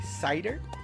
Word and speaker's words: Shidoru: Gacha number 2, we've got Shidoru. Shidoru, I believe they take the French pronunciation of cider here for us English-speaking folks. So this is going to be cider.